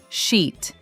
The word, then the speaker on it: sheet: Sheet, seat. Sheet starts with sh, like shoe or she.